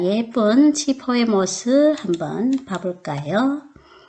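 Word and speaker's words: 七: 사람들은 왜 싫어할까요 그것은 일곱 7의 발음 치와 환하다 할 때 발른 치가 발음이 비슷하기 때문에 일곱 7자 보면 어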